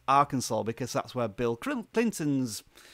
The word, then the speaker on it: Arkansas: of that state it you want to say Arkansas but I know it's pronounced Arkansas because that's where Bill Clinton's they he was